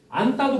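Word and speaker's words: 안다: 안따도 봐봐. 안이 어간이고 다가 어이야. 그래서 니은이 디귿을 만나서 안따 쌍디귿으로 바뀌어 있죠.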